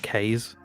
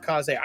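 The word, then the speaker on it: Kaze: and the wild mask the developer confirmed that yeah that that's exactly how you you pronounce it cause a i thought it was k's as well but it's cause a yeah so sometimes i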